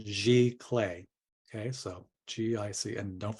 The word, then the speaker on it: giclée: were were put in place and that's the pronunciation G clay okay so GIC and don't forget that accent